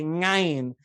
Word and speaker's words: ayin: And so in order to be chazan there, I had to learn not to say ayin, but rather to say ngayin, which is the farthest